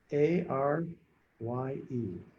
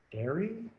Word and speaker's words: Arye: A-R-Y-E. Airy? I'm sorry, I'm butchering your name. Scoot it up and over a little bit. Can you see that? Yep. Thank There you. we go. Perfect. It's pronounced Arye. Arye.